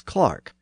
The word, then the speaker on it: clerk: discussion might have suggested American English does actually have the pronunciation of clerk as Clark but it's only retained